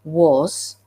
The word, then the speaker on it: was: don't know, was, W-A-S, is only tricky if you don't know that A is sometimes pronounced as O, and letter S can sometimes be pronounced as Z. Once you know that, then you can read was, and it's no longer a tricky word.